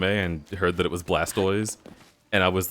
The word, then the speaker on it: Blastoise: a friend that said blastis because he never watched the anime and heard that it was Blastoise and I was like cuz it's a tortoise what